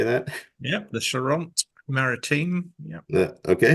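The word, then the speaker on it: Charente-Maritime: Yep, the Charente Maritime. Yep. Okay, Charente Maritime.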